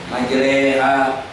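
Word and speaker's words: مجراها: Cara-cara baca majreha. Ada yang pakai imalah itu goyang sedikit begitu.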